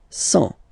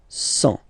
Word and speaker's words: cent: and the last one, 100. Remember, final T not pronounced. 100.